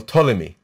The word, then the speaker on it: Ptolemy: the king tolmayos well ptolemy right the math is in greek it's written with a p with an unpronounced fee in the beginning in hebrew it just